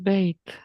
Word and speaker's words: bait: Aquí dice es bait. Bait. Aquí no dice by, ¿verdad? Da muchas ganas de decir bye.